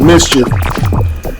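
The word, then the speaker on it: MSCHF: and they saying that the company called ms chf but they pronounced it mischief they're trying to promote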